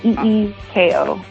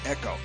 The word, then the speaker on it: Yco: So phonetically Eeko. I keep wanting to say. I want to say. My mouth wants to say echo, but Yco was. All right. So Yco, like ecosystem, but YCO.